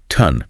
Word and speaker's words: tongue: Focus only on the first four letters. The O does not make an ah or oh sound. It makes a short U sound, what linguists call a schwa. Sounds like uh. So, the T and the O make tun.